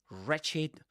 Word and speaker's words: wretched: And yes, you don't pronounce the w at the beginning. You say wretched.